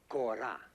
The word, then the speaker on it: kora: Ko, not go. Ko. Ko. I show you. You see, the body is a gourd covered with goat skin, 21 strings. This is called kora.